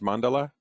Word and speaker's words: mandala: oh okay is your is that is it pronounced mandala yes so is this representative of the field